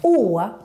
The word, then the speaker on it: Å: Å, with this little circle on the top, is kind of a mix between the letter a and the letter o. And it's pronounced like this. Å. Oh, you kind of need to look like this when you pronounce it.